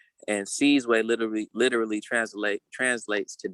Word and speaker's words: Sizwe: me to say it on the continent it's pronounced seize way and seize way literally literally translate translates